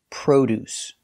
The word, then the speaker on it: produce: look at the pronunciation the word is produce we use the long o like No And Go Pro produce the first syllable is stressed so produce produce produce